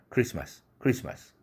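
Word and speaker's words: Christmas: 그래서 편하게 크리스트마스가 아니라 크리스마스 이렇게 발음되는 것입니다.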